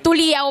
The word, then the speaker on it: Tuliyaw: Paano ba binibigkas ang apelido mo? Tuliaw, Tuliyaw? Tuliyaw po. Tuliyaw.